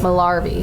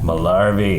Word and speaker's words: Malarvey: Malarvey. He actually, we asked him how to pronounce it, and he was like, Mel is in Gibson, R is in Pirate, V is in Victory. I like that. Malarvey.